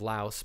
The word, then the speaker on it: Laos: And I think with they were in the country of Laos, which is Laos, but people don't pronounce the S.